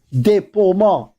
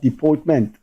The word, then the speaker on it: déportement: Globally, comparing him globally, you just study his déportement, French word. Some people pronounce it deportment. It's not deportment.